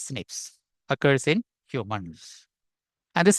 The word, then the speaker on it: SNPs: important data and expansion snps single nucleotide polymorphism pronounced as Snips occurs in humans and